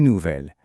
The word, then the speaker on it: nouvel: Et bien juste pour que ce soit plus joli et plus fluide à prononcer, on utilise belle et nouvelle. On dit un bel homme ou un nouvel ami.